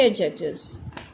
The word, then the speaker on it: adjectives: अच्छा, एडजेक्टिव्स को प्रोनाउंस करने के लिए बहुत केयरफुल रहें कि इसमें ड जो एडजेक्टिव के अंदर जो ड साउंड है इसे प्रोनाउंस नहीं किया जाता है। ठीक है, एडजेक्टिव के अंदर ये जो ड साउंड है ड ज both have harsh consonant sound, तो हम ड साइलेंट कर देते हैं, फर्स्ट वाला साइलेंट हो जाता है, देन ए के बाद में हम डायरेक्ट ज साउंड को प्रोनाउंस करेंगे एडजेक्टिव्स।